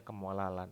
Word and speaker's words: kemolalan: kemolalan kemolalan atau molalitas pakai Elya ini bukan eh cadel tapi memang bacanya kemolalan ada kemolalan ada kemolaran